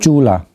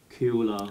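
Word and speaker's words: Cūḷa: Chula. Kula. No, Q. Chu. Pronounce it Chu.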